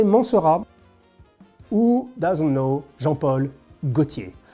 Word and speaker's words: Mancera: Mancera. In French, you pronounce Mancera. But I'm pretty sure in Italy you can Mancera, or, you know, in Italy, but I would say Mancera.